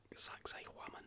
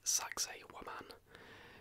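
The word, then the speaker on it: Sacsayhuamán: Sacsayhuaman, I think, is how you pronounce that.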